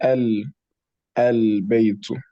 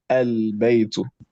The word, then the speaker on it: البيت: One other common pronunciation error that is common is people bouncing their tongue when pronouncing the lam sukun of al-bayt, for example. So instead of saying al-baytu, I want everybody to say al-baytu.